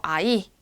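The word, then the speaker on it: ahí: 여기 H가 붙어 있어요. 아이. 그럼 얘는 묵음이에요. 아끼.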